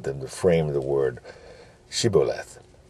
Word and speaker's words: shibboleth: This was being wise as a serpent, but how they had them to frame the word shibboleth. And they couldn't say it right, but said siboleth.